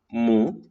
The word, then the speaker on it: mu: Entonces, cuando tú dibujes esta de acá, que se llama mu, ¿sí? Como la vaca, mu, se dibuja así, como si fuera una cursiva, toda chueca, ¿sí?